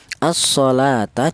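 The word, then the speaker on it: الصَّلَاةَ: Seperti contoh ini, asalata dibaca idgham syamsiyah. Alasannya ada alif lam berjumpa dengan huruf shad.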